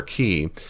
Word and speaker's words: chi: comes from the Greek chi. Chi, it's actually pronounced k, or key, is what we call that X-looking symbol.